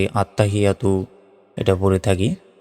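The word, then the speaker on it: التحيات: আলিফ জবর বা তাসতুবাতু আত্তাহিয়াতু লিল্লাহি সালাওয়াতুবাতু আমরা অনেকে ভুল উচ্চারণ করি বলি যে আত্তাহিয়া এখানে ভুল গেল আত্তাহিয়াতু বলি বলতে হবে আত্তাহিয়াতু লিল্লাহি লাতে এক সেকেন্ড টান হবে আবার বলি এখানে সালা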